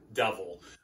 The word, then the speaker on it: Duvel: been rewarded by aging duval duval harry pronounce it devil um and i'm like